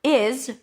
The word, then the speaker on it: is: But the word is ends with a Z sound, even though it's spelled with an S.